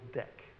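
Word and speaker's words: deque: but std q adapts list or deck. Is it pronounced deck, D-E-Q-U-E? Yeah, okay.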